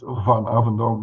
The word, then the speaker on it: Van Avendonk: It's Van Avendonk, not Van, but anyway, that's just the accent.